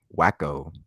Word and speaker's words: Waco: And in the Big 12 showdown, we got the Baylor Bears of Waco, Texas.